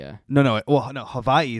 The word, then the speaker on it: Hawaii: like this, and that's Hawaii for the uh No, no. Well, no. Havi is actually how it's pronounced.